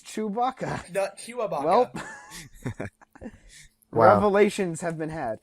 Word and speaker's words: Chewbacca: chewbacca wait chewbacca chewbacca it's chewbacca is it is it not no it's chewbacca chewabaka i've said chewabaka for like well that's wrong that's wrong did you not listen